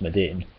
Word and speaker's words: Maduin: The Eidolon, or Eidolon as they say in Final Fantasy XIII, Medine, is a mistranslation of Medine, which is spelled Maduin but pronounced Medine, a reference to an Esper of the same name from Final Fantasy VI.